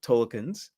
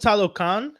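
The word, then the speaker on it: Talokan: told the tolkans yeah I hate saying it wrong I really hate saying it wrong because I don't know how to show them the respect I wanted to show them the respect because it's called talocan right so then saying it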